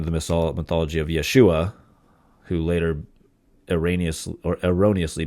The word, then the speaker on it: Yeshua: back then it would have been the yeshu Yeshua mesc is how you would have pronounced that this is here in Yeshua 12